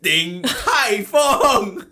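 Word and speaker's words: 鼎泰丰: It's Ding Tai Fung. Literally yesterday we were your friends. Literally, I told you that you will forget about it and you will go back to the same pronunciation. And then here we are again. You pronouncing it the same way. 鼎泰丰. See? I'm saying it right.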